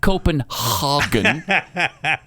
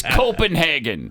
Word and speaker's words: Copenhagen: And it's not Copenhogen. It's Copenhagen.